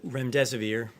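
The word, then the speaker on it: remdesivir: so much I wanted to ask out rec ramza vir pronounce that correctly can you tell say is it currently approved for use on the virus so REM des vir and it's a drug made by Gilead that's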